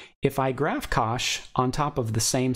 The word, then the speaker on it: cosh: cosine graph hyperbolic cosine in north-america can often be pronounced as cosh just sort of as it looks so you may instead